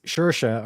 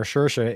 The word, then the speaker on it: Saoirse: If we go meaning, Saoirse, pronounced Saoirse or Saoirse, is an Irish female name given directly translating to freedom or liberty in the Irish language.